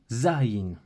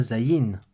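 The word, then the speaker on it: זַיִן: le son Z là en hébreu on accentue sur le zinc Zarin et pas zaïne zaïne pour ça que j'ai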